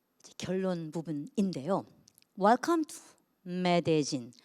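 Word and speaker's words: Medellín: Welcome to 메데진. 이걸 메들린이라고 읽지 않고 메데진이라고 읽습니다.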